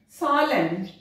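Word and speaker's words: solemn: एन एन साइलेंट डैम, सॉलेम एम और एन साथ में है एन साइलेंट सॉलेम, कंडेम हिम, तो यहां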